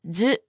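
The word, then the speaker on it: ず: It's pronounced as zu.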